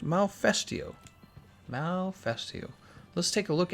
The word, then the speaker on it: Malfestio: How is it pronounced? Malfestio.